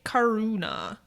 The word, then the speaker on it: Caruana: So this is about Salvatore Caruana. Who I think it rhymes with marijuana.